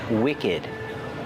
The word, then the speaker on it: wicked: is a wick and we have the word wicked wicked has a short I sound too and we pronounce the Ed D like together wicked wicked is the